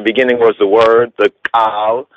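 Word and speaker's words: קול: Right, in the sense of Kal Kidan, new covenant or word agreement, word covering, and then we go to the Old Testament. We have Kal, or they would pronounce it as Kol, right?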